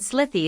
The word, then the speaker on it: slithy: toves the eye in slithy is long as in writhe and toves is pronounced